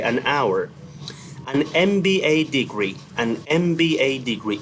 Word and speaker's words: MBA: An MBA degree, an MBA degree. In here, M is pronounced like M, MBA degree. So it has a vowel sound.